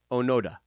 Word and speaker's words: Onoda: gonna butcher this the name can i just spell it first h-i-r-o-o hairu onoda onoda o-n-o-d-a we got the last name right